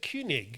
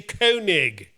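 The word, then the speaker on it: Koenig: great work best regards rob kig you said kunig kunig but in America and in in Britain we say kig why but it's like commander kig in space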